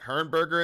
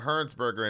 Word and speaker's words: Hernsberger: was it Hernberger in the house? What's going on? Hernsberger in the house. I want to make sure we're pronouncing the name correctly.